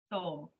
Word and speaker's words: Soul: Um first I want to know the correct pronunciation of your name. Soul or? Soul.